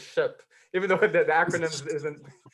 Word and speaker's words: SHPE: thanks for correcting me i've been saying shape i didn't know it was ship even though the acronyms